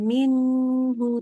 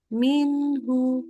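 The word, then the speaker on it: مِنْهُ: Tapi belum lulusnya karena baca minhu itu izhar. Jadi enggak boleh minhu, tapi minhu langsung.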